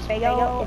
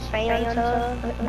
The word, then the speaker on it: Faygo: It's not pronounced Faygo, it's Faygo.